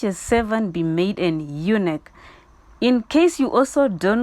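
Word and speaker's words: eunuch: required that such a servant be made an unic in case you also don't know what the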